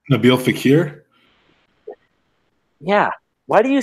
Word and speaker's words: Nabil Fekir: Like, I think that guy from France, is it Fabel Nakur? I don't know how to pronounce his name. Nabil Fekir?